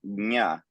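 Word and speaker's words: ज्ञ: It can also be jna if that works better, that JN. I actually pronounce it to differentiate it between gya, which is GY, you'll see written. I actually say nya. So there's actually a g and a ya.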